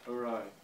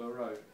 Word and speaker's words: awry: situation has gone awry, or our plans went awry. And the second meaning is askew. It is something that is twisted for one side. But in Russian, наперекосяк, you can say her hair was all awry, or you can say his tie was awry.